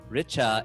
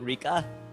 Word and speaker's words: Richa: parents to say no you should be saying your name richa and not what was it rika rika rika richa i've gotten everything risha